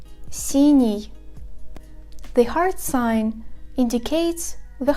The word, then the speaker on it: синий: The letters Е, Ё, И, Ю, Я after these consonants indicate that these consonants are pronounced softly. For example, синий.